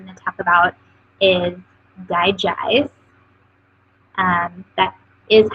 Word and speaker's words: DiGize: The next oil I'm going to talk about is Digize. That is how you pronounce it.